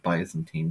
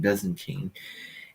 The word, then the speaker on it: Byzantine: And then the um Byzantine I think I mispronounced that in the video. I said Bisantine Byzantine Empire's blue failure.